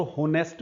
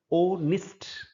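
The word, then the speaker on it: honest: बहुत ही common word है ओनेस्ट ओनेस्ट भी नहीं है यह और होनेस्ट भी नहीं है यह है ओनेस्ट ओनेस्ट हाउसेस इस शब्द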